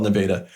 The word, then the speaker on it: Nevada: And it's spelled Nevada, but yeah, it's spelled Nevada, but in Iowa, we call it Nevada.